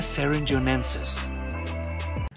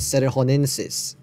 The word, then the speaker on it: cerrejonensis: Number 2, Titanoboa serringonensis. I think that's not how you pronounce it. It's supposed to be pronounced Titanoboras cerrejonensis.